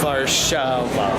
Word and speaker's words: Warszawa: No, I was just pronouncing the Polish Warszawa.